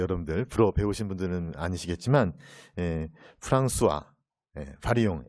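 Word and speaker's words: François Varillon: 불어 배우신 분들은 아니시겠지만 프랑스와 바리옹. L자가 두 개가 있는데 L자를 발음을 안 해요, 그렇죠? 또 앞에 S자가 뒤에 있는데 S자 발음 안 했죠, 그렇죠?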